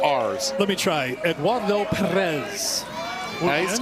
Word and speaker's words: Perez: Eduardo Perez. Nice, even though you don't have to roll it on the Perez, but I like that you can.